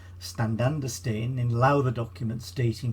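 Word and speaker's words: stān: may be an earlier form of the name stand understand in louder documents dating from 1216 probably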